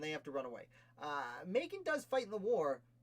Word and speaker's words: Macon: And I always want to pronounce it Bacon, but that's certainly not it. It starts with an M.